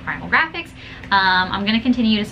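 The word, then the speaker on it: Graphx: one are from Primal Graphics. I think it's like that. Yeah, Primal and then Graphics, but Graphics is spelled G-R-A-P-H-X.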